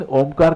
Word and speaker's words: ओम: बंद कर लीजिए तीन ओम का उच्चारण साथ में करेंगे इसको करने का तरीका है ओ को कम समय बोलना है मुंह खुला रहेगा और म को बोलने का समय ज्यादा होगा जब आपके होठ साथ